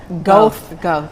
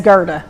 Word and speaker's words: Goethe: I told you it was what? Goethe. And it's Goethe. Goethe. I don't know how you get that out of it, but that's what they say it is.